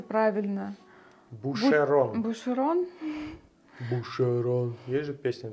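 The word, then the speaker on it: Boucheron: Как читается правильно? Бушерон.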